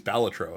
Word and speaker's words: Balatro: pretty cool um for for balatro fans or actually it's balatro as I've come to find out it's actually pronounced um the new uh